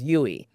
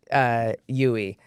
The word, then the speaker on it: Duy: of it more consistent, how you say my name is Yui. So think of me when you do a U-turn, U-turn. I like it. right? Yes. So the D is silent, Yui.